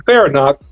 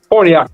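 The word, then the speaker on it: Farniok: Are you depending on Farinack? Excuse me for mispronouncing his name. But you're depending on those guys to play Forniak, thank you.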